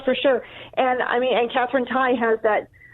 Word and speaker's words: Tai: And so what's your take on Catherine Tai? Is it Tai or Tay? How do you say that? What's the correct way of saying that? Tai.